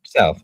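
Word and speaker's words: salve: Was it SV? How was it spelled? Salv s a l v.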